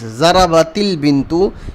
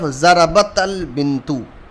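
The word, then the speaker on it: ضَرَبَتِ الْبِنْتُ: When the two sukoon comes together, then the first sukoon is converted into kasra and we read like this, zarabatil bintu instead of zarabatal bintu.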